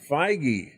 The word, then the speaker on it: Feige: determined and that's a Kevin how do you pronounce his name I was looking up JD Dillard Uh Kevin feige feige okay so Kevin feige is also getting his